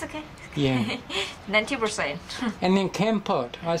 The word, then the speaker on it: Kampot: And then Kampot. I say Kampot, but it's different, isn't it? It's Kampot, Kampot?